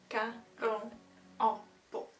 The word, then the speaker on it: Karel Appel: Karel. Appel.